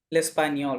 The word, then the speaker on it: l'espagnol: জিএন মাঝে থাকলে বলছিলাম নি হবে, তাই না?